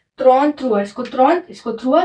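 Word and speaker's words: trente-trois: त्रॉन थ्रुआ। इसको त्रॉन, इसको थ्रुआ, तो त्रॉन थ्रुआ, है ना।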